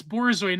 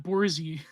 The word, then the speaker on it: Borzoi: Yeah, it's Borzoi, not Borzi.